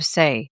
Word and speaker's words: Saie: My guest, Laney Craell, is a founder and CEO of SE, that's spelled S A I E, a brand that's redefining what clean beauty means.